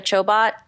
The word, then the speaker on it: Chobot: something her name is Jessica Chobot rhymes with robot yeah and and she's